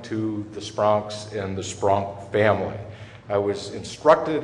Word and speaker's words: Spronk: And a special welcome to the Spronks and the Spronk family.